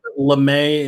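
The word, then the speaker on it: lamé: i'm a little concerned lemay in english it is it is spelled the same as lame and we want to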